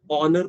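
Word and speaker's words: honour: एन कह रहे हैं, लेकिन ये तो एच से शुरू हो रहा है। प्रोनाउंस जो हो रहा है उसमें आ रहा है, प्रोनाउंस जो उसको करते हैं जैसे उसमें साउंड आ रहा है। प्रोनाउंसिएशन के टाइम पे आप ऑनर पढ़ते हैं, ऑनरेबल पढ़ते हैं, और एच का यहाँ पर कोई यूज नहीं है आर्टिकल आइडेंटिफाई करने में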